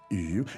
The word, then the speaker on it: 鱼: 鱼. Second tone. 鱼. This is, I think, a slightly elusive word from a pronunciation perspective Yeah. for someone new to the Chinese language. Yes. Fish. Let's hear it again. 鱼，鱼。鱼. Because it's such a subtle pronunciation, is. such a subtle sound. Yeah. It's the second tone as well, which is, I've always found the second Yeah. one the most difficult.